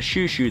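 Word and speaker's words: xuxu: the brazilian white bean and the shoe shoe that's spelled xu xu fun to spell fun to say and even more fun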